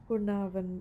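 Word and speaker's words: Caernarfon: আমরা আজকে এখন যাচ্ছি আমাদের সেকেন্ড ডেস্টিনেশনে সেটা হচ্ছে কোনাভন। এটা আমি জানি না আমার প্রোনাউন্সিয়েশন ঠিক হয়েছে কিনা বাট ব্রিটিশ প্রোনাউন্সিয়েশনটা এরকমই আর আমেরিকান প্রোনাউন্সিয়েশনে আরটা উচ্চারণ করা হয় আর কি কুর্নাভন এভাবে বলে।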